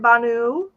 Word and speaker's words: Banu: Banu.